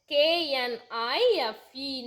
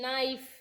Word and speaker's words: knife: Then knife, K-N-I-F-E, knife. It is pronunciation as knife, but here K is the silent letter.